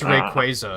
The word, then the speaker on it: Rayquaza: rayquaza really yeah yeah it's pronounced rayquaza and i'm like no it's not that sounds awful oh just yet during